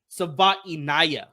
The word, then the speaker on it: Savaiinaea: And that is the player out of Arizona, Jonah Savaiinaea. Oh, is that how you say it? I had to listen to it on the Arizona website with the audio or whatever of him actually saying it.